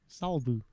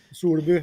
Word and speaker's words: Solbu: Solbu is the native sounding, but yeah. Okay. Solbu is fine. I'm from Pennsylvania. I say Salbu just like I say Kathy.